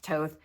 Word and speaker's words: Thoth: It looks like Thoth, but it's pronounced Toth.